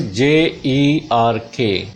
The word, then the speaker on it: jerk: इसमें भी E के बाद R आया हुआ है, तो ज, this ja sound, then long sound of a, and ra will not be pronounced because the sound ra is followed by ka sound, consonant sound. This is jerk.